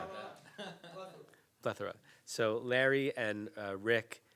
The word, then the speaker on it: Haftarah: We mispronounce it, Haftorah plethora. Haftorah plethora.